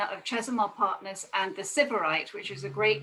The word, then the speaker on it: Sybarite: We like to pronounce it Sybarite, but correct pronunciation is Sybarite.